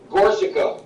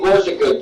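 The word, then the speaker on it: Gorczyca: My name is Gorsa. Would you like to spell that? Yes, please. Last name Gorsa.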